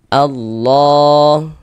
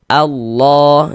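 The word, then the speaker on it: الله: Begitu Allah. Kemudian di sini lafaz Allah dibaca tebal. Kita baca Allah, jangan dibaca alla.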